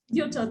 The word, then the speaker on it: Gyuto: Did I mispronounce that, Sujatha? Yoto, that's right.